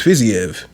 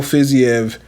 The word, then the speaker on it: Fiziev: fizzyev faisave i hear every time somebody like pronounces his name they say it differently depending it's just whoever says it at that time it's either physio fuzzy like i don't know i think it's fizzyev i'm going to say